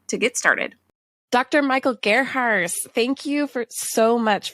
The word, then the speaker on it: Gerharz: go to anchor.fm to get started Dr Michael Garts thank you for so much for joining me today for leadership school did I pronounce that correctly that was perfect ah yes